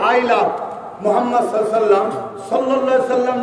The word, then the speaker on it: মুহাম্মদ: আপনারা সবাই একবার বলুন মুহাম্মদ, আপনারা একবার উচ্চারণ করুন মুহাম্মদ। খেয়াল করতে কোন নবীর নাম নিলে দুই ঠোঁটে ঠোঁট ঠেকছে, বলুন মুহাম্মদ। আমার নবীর নাম চুমা না